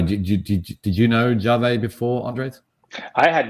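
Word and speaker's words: Yave: our startup competition um y or jave not yav it's it's sped y a ve but apparently pronounced jave um and this is a basically um embedded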